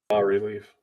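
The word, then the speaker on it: bas-relief: Bas relief boss relief B relief B Rel I think I think I think the I think the S is silent I think it's French sure the b or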